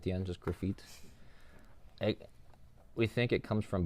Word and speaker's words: Graffit: So his name is Graffit. I always tell people it's kind of like graffiti, but with no I at the end, just Graffit.